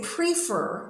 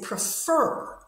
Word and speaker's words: prefer: And we don't say prefer, we say prefer.